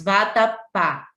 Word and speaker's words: vatapá: é a última então vatapá são exemplos de palavras oxítonas vatapá a sílaba tá Nacional a mais forte a última então Vatapá é palavra oxítona por quê Porque a